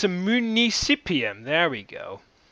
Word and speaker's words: municipium: And alright, so basically, yes, I knew the term, but I just didn't know how to pronounce it right. It is, let me write it down, municipium.